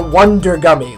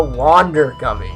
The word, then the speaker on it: Wander Gummy: and probably tricked you this is not a Wonder gummy look how it's spelled it's a wander gummy and what a wander